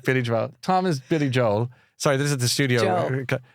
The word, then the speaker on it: Joel: I mean, I don't say his name that often, but if I was to, I'd say Joel. I say quite a lot. Right. And I say Billy Joel. And it's an an Irish thing.